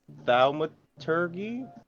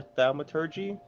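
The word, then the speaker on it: thaumaturgy: t flings can trip i believe it's pronounced thalma turkey or thalmaturgy what does that start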